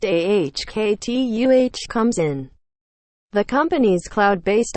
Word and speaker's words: Okta: That's where Okta, Nasdaq Okta, pronounced AHKTUH, comes in.